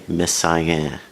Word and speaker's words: Messiaen: I'm going to try to pronounce the French name right. Olivier Messiaen.